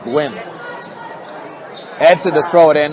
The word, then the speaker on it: Nguyen: Jordan Nguyen with his third foul. I believe now I hear it's pronounced Gwyn.